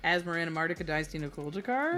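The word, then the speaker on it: Asmoranomardicadaistinaculdacar: Oh yeah, Asmarana Mardica Dynasty Kuldakar.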